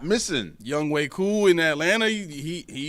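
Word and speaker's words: Younghoe: I need you to put young and ho together and it's pronounced young way and he's 14th in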